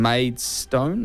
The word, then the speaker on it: Maidstone: Bournemouth Man City killed Luton 62 Coventry beating maid stone is that how you pronounced it maid yeah that was the other